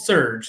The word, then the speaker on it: SRJ: this fun the srj which is called surge that's how you're supposed to pronounce it uh and through that